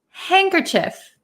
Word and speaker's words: handkerchief: Chief hand cief um in American English we pronounce it handkerchief handkerchief some people also pronounce it handkerchief but